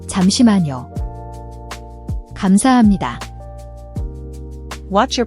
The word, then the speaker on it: 감사합니다: 감사합니다. Now you try. Formal. 감사합니다. Casual. 고마워요. 감사합니다. Fill in the blanks. The answer is in conversation. 감사합니다.